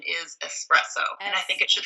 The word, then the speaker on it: espresso: there's no X in it, so would this No. be espresso? It is. I was thinking of espresso, and you do hear a lot of people mispronouncing it espresso. I wonder where people got that. I guess just we're used to the term express, and so... It is. It doesn't have anything to do with speed.